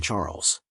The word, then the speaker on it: Charles: fixing my Gaze on Charles you're so thoughtful my dear husband she replied Charles pronounced the French way as charl struck me as your